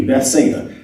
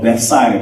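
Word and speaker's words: Bethsaida: say those with me Betha or Beth cider depending on how you pronounce it and The Story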